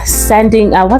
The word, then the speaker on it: Sandringham: They conducted a raid in Sandringham.